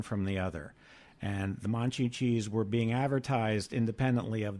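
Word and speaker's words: Monchhichis: I was listening to you, and I was paying particular attention to your pronunciation. It's actually Monchhicchis.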